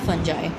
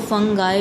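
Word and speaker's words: fungi: Then है फंजाई. ठीक है, इसको फंगाई भी कहते हैं, फंगी भी कहते हैं, बट फंजाई भी कहते हैं. तो मैं फंजाई ही इसको प्रोनाउंस करती हूँ, फंजाई.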